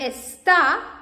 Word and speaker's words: está: And está, like this, is she is, he is, está, because it has this accent, and when you pronounce it, you can see está.